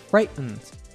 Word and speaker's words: frightened: The glottal stop occurs in words where a syllable ends in T and the next syllable is a syllabic N or EN. So we hear frightened.